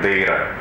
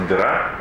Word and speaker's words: Дейра: Так вот, здесь есть такой район Дейра. И люди говорят, это Дейра, ребята, это Дейра. Собственно, некоторые русские называют ее просто «Дыра». Это название неправильное, нужно произносить «Дейра». Давайте не путать.